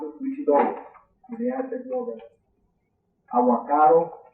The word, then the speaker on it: Huitzilopochtli: Huitzilopochtli, they pronounce it Huitzilopochtli, the Aztec war god.